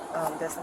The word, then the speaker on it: Destin: Destin. What is it? Destin. Dustin. Dustin or Destin?